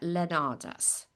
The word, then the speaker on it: Leonarz: We've got Andrea Leonarz. Pronounce it for me again. Leonarz. Andrea Leonarz.